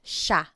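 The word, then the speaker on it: siya: And again, just to point out the pronunciation, it looks like it should be pronounced, but it's usually pronounced sha sha.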